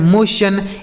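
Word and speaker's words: motion: तो टी आई ओ एन अगर किसी भी शब्द के अंत में लिखा रहता है तो उसे आप क्या पढ़ेंगे? सन।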